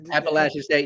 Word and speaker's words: Appalachian State: Appalachian State, yes, you did.